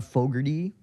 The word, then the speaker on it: Fogerty: Like John Fogerty, I think that's how you pronounce the name.